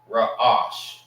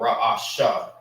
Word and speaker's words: Ra'ash: You have to say both of those A's. Ra'ash. Ra'ash. Or Ra'asha. But whatever it is, you're going to have to say both A's.